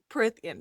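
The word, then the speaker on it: Prythian: It's a how do you say Prithian. it? Prithian.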